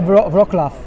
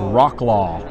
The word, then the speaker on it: Wrocław: came several years ago, I used the Texan pronunciation, which is Rocklaw. So if you see this city spelled as a Texan, you would say Rocklaw. That's how you would say it in Texan.